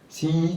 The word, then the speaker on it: C2I: C2I on dit CII Télécom.